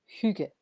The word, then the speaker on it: hygge: But it's pronounced Hygge.